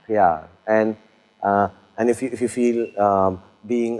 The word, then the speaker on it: प्यार: Pyar. P-Y-A-A-R. Pyar. Pyar.